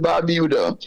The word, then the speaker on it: Barbuda: And so when we look at it from that perspective, I don't know if Antiga and Barbuda, we pronounce it Barbuda, Antiga and Barbuda.